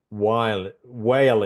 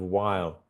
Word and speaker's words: while: So whale instead of while.